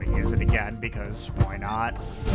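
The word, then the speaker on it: Wynaut: See, that was a pun, because there's a Pokemon called Why Not? Ah! Spelled W-Y-A... or W-Y-N-A-U-T. But, you know, pronounced like the words why not.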